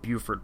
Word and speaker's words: Beaufort: oh yeah Beaufort Beauford I think that's meant to be meant to be pronounced Buford but I don't know